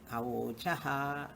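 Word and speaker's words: अवोचः: Ma comes when this A is dropped. That's why Mayivam Ochaha means how you have to split and read. Ma Evum Ochaha. A is silent. Awochaha. Exactly, word is Awochaha.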